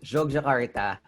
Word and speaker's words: Yogyakarta: Oh, I gotta correct my pronunciation there. It's Yogyakarta, Indonesia. There you go.